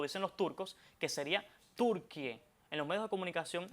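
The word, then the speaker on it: Türkiye: Bueno, decirlo lo más cercano posible, como lo dicen los turcos, que sería Turquie y no turquille.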